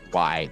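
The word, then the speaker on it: Vlidh: um actually i think i think it's pronounced by it's v-l-i-d-h he'll drop down from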